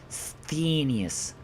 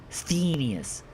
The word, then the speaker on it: Sthenius: Sthenius. Sthenius.